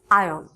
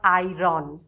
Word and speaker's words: iron: সো এখানে যেহেতু এই আ আছে, এই কারণে আমরা এটাকে এভাবে উচ্চারণ করছি আয়ন, নট আয়রন। That is আয়ন।